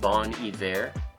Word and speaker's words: Bon Iver: It's actually pronounced Bon Iver.